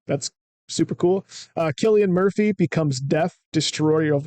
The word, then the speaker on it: Cillian: We have Killian, which I just learned today is how you're supposed to say his name. That's super cool. Cillian Murphy becomes Death, Destroyer of Worlds, to portray Oppenheimer.